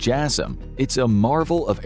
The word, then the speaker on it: JASSM: Known as the AGM-158 Joint Air-to-Surface Standoff Missile or JASSM (pronounced Jass-um), it is a marvel of airborne weapons technology that has been in the making for decades.